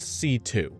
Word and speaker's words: C.C.: Her name is C, but it's pronounced C2 because it's two C's, I guess?